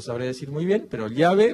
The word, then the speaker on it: llave: de vodol dirían llave y en Argentina se dice Chave y específicamente se escribe igual y se va a escribir siempre igual excepto que ocurre ecatombe pero pero se va a seguir escribiendo igual pero se expresa distinto Y esto es el